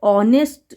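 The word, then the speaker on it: honest: confusion होगा अब देखो इसको ऑनेस्ट इसको नेस्ट नहीं पढ़ते एच है तो एच साइलेंट होता है इसको हम लोग पढ़ते हैं ऑनेस्ट ये साइलेंट होता है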